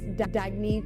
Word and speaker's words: Dagne: good you can live life intentionally oh it's pronounced dagne do dagy means New Dawn a new dawn